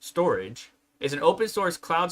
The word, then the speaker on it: Storj: But yeah, Storj, pronounced storage, is an open source cloud storage platform.